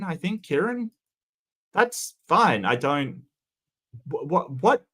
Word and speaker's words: Kieran: hard Kieran I mean I've SE seen it spelled with a k k i e r a n I think Kieran that's fine I don't what what that's not